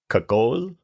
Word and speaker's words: Kagol: So he insists that his last name is actually pronounced Kagol.